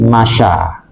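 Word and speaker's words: مشى: Contohnya seperti masya. Masya. Masyaya asalnya gitu, tapi dibacanya masya.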